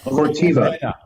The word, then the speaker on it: Corteva: Now it's starts with a C, 3 syllables. Corteva.